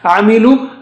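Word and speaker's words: عَمِلُوا: the exercises, but here, Amilu, after lam with dhamma, lu. You have waw, but no sign, so we don't read it, we don't read alif, we don't read alif,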